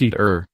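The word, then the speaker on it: ITER: international thermonuclear experimental reactor and pronounced eat earth is being built to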